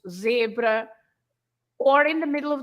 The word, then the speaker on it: zebra: But of course, you pronounce the Z as a normal Z if it's at the beginning or in the middle of the word, like zangado, angry, zangado, or of course zebra, or in the middle